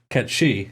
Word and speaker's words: Cait Sith: No, he's saying everyone should just continue pronouncing it Ketshi.